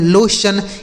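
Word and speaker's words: lotion: तो टी आई ओ एन अगर किसी भी शब्द के अंत में लिखा रहता है तो उसे आप क्या पढ़ेंगे? सन।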